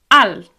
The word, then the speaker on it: alt: So, you say soc alt, I'm alt. But I'm tall as well. There we go. It's actually spelled a l t, but we don't really pronounce that last t on the end.